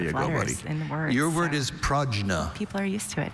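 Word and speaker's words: prajna: Are there any alternate pronunciations for the word? Only pragna.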